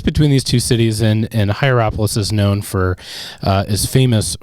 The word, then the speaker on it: Hierapolis: I'm just not even going to try to pronounce at this point, but it's, Hierol. Yep, nailed it. Nailed it. Hierapolis?